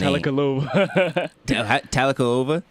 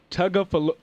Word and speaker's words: Tagovailoa: I don't even know how to say his name. Talakalova. Oh, now you done messed me up. I said it right the first time. Tagovailoa. Tua Tagovailoa.